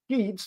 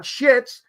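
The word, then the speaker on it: Sheetz: she was at Sheets let me pronounce that again sheets not shits sheets okay two e Convenience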